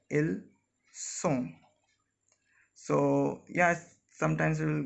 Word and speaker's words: ils sont: Here again the basic difference between ils, elles sont and ils, elles ont is the buzzing sound. Here we say ils ont when we are pronouncing this and this together, and here it was simply ils sont.